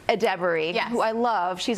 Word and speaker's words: Edebiri: One reunion we were not expecting was with, I want to say her name right, Ayo Edebiri. Edebiri, yes.